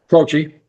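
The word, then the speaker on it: Croce: Crochi.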